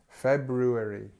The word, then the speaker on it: February: some one one sound but the correct way February okay February okay next one nice